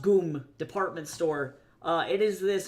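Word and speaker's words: ГУМ: The Goomb, which is ironically across from Lenin's grave, spelled GYM, pronounced Goomb Store.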